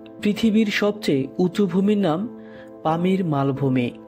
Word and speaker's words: Pamir: সবচেয়ে উঁচু ভূমির নাম পামির মালভূমি স্থানীয় ভাষায় এর উচ্চারণ হচ্ছে পমির যার অর্থ হচ্ছে সূর্যের